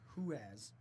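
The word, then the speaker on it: Ruas: Arturo Ruiz, Huaz. I was pronouncing it wrong. It's Huaz, yeah.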